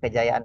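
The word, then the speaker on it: Kedjajaan: kan untuk kejayaan bangsa tulisannya untuk kejajaan Tapi bacanya untuk kejayaan bangsa ini sebuah ya seb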